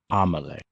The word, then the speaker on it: Amelie: it down in case my name would be Amelie would you like me to pronounce that for you sure all right Thomas lay a m a l I know am e-l-i-e amole there we go I shall be sure to